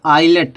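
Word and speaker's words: islet: है एस आया है जब आई और एस के बीच एस आएगा तो जोयस का प्रोशन मलब प्रोनंसिएशन नहीं किया जाएगा यस साइलेंट रहेगा तो क्या हो जाएगा इसको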